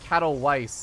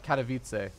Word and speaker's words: Katowice: very very long time I was still saying cattle wife instead of Katowice yeah let's just not embarrass myself either way though Protoss vs.